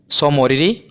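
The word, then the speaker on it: Tso Moriri: स्थल हैं पहला है देखिए जो एंटी है ना यह साइलेंट है सो मोरी और दूसरा है सोकर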